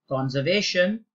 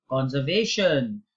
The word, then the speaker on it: conservation: Number one, you always pronounce it as conservation. Notice again that the apostrophe is here. So it is conservation. You can't say conservation. You have to say conservation.